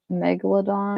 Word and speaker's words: Megalodon: you say that Megalodon all the new one Megalodon yeah you said it right I think that's